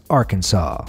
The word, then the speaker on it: Arkansas: state name, and that's Arkansas. Not Arkansas, sir. Arkansas. Those would both be considered illegal. According to the rule, the correct pronunciation of Arkansas with the final S being silent was made official by